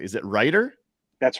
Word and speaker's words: Reuter: get the last name pronunciation correctly is it ryer that's right Ryder I think I've been calling you rer it's Ryder so if I get it wrong again just